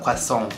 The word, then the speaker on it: croissant: The right way to say it is a croissant.